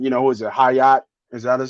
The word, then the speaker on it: Hyatt: Hyatt? Is that how you say it? Yeah, Jalen Hyatt. Yeah, Hyatt.